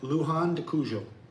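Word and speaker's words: Luján de Cuyo: And then you'll have a private transfer from the airport to the winery region of how do you pronounce it again? Luhan de Kujo.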